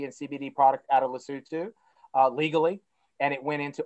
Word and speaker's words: Lesotho: which is the facility right here called mgmc lesotho it's based in lesotho but it's pronounced lesotho and so lesotho legalized cannabis in